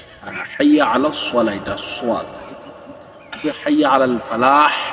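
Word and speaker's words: الفلاح: হাইয়া আলাস সালাহ এটা সোয়াদ, হাইয়া আলাল ফালাহ লাগতে যে হা উচ্চারণটা অনেকেরই হয় না, এই উচ্চারণটা ঠিক করতে হবে।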